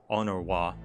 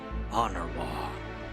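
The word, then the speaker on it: Honoroit: Still weird that they pronounce it that way. Honorwa. Honorwa.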